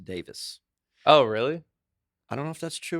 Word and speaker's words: Davies: I heard, But I heard the guys in the Kinks that their name is everybody says Davies because that's the way it's pronounced, Ray Davies, and it's actually pronounced Davis.